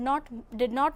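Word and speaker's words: know: For example, in the word no, K is silent.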